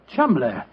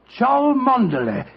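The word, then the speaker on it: Cholmondeley: Being an American, he had no reason to know that the name Chuml is in no way pronounced the way it is spelled. Joe, I never thought of that. Chumlay.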